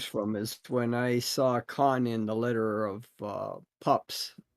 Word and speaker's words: Khan: How do you pronounce Khan? Do you pronounce it like William Shatner in Star Yeah. Trek 2, The Wrath of Khan?